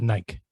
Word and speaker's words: Nike: is it nike or is it nike it's nike otherwise everybody including their commercials have been mispronouncing their own name for years do they say nagi